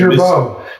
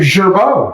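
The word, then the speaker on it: Girbaud: How would you pronounce it? Gerbaud. Yeah, Mr. World Traveler. Gerbaud.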